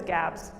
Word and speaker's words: Gabs: A little confusingly, the nickname for it is Gabs. Switches over to a hard G. Don't know why. It's not Habs, it's Gabs.